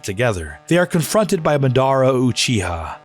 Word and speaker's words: Madara: they are confronted by Madara Uchiha. Madara? No man, it's Madara.